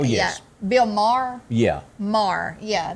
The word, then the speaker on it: Maher: Maher. Yeah. Did I say it wrong? You said Meyer, and it might be a different person.